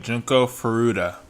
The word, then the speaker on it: Junko Furuta: So that's how you say it, Junko Furuta.